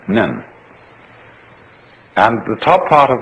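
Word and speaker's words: 念: It's pronounced nyan, in Japanese nen.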